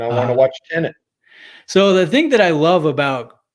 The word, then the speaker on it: Tenet: tenant? How do you spell that? It's Tenet.